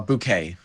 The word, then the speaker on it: Bunch: It's Bouquet. Oh, Bouquet. And all right. everyone pronounced it incorrectly, so I'm completely fine with however anyone says.